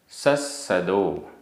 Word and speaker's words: सस्सदो: एगो, एगो, में, सस्सदो, आधा सा पूरा सा, सस्सदो, अप्पा, आधा पा पूरा